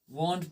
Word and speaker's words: won't: लिख सकते हैं, वॉन्ट, इसको पढ़ना क्या है, वॉन्ट पढ़ना है, ठीक है, वांट मत पढ़ना है इसको, वांट is nothing, वॉन्ट इज the perfect pronunciation, okay, you won't have